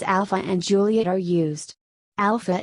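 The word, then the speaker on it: Alfa: Alpha is spelled with an F as it is in most European languages because the English and French spelling alpha would not be pronounced properly by native speakers of some other languages, who may not know that PH should be pronounced as F.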